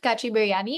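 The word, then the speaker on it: kacchi biryani: Also, was it kachi biryani?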